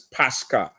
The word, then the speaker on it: Pascha: The pronunciation is Pascha, not Easter. It's not even anywhere close to Easter.